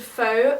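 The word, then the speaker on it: Phở: is a place called Pho. You actually meant to pronounce it pho, but I call it Pho, and it's lovely Vietnamese food.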